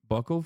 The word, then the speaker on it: buccal: Isn't it buccal fat?